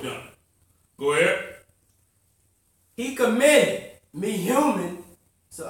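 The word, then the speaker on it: Mehuman: He commended me human. So how you pronounce it?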